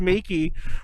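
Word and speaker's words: 名器: In Japanese, the word Meiki, which is the same pronunciation as Make It, is meant as superior kitty.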